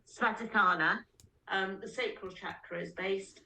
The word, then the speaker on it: Svadhisthana: chakra we're talking about, which is let me pronounce it correctly, Svadhisthana.